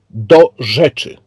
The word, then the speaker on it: DoRzeczy: Good evening, and the right pronunciation would be DoRzeczy.